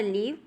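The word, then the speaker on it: live: दिख रहा है आपको दो डिफरेंट वर्ड्स इन दोनों के प्रोनंसिएशन और मीनिंग कंप्लीट डिफरेंट है लेकिन दिखने में इनकी स्पेलिंग बिल्कुल ही सेम है फर्स्ट है हमारा लीव और सेकंड है क्या है लाइव थर्ड में बोला गया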